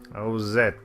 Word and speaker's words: Ozette: Ozette. What about it? It rhymes with Colette.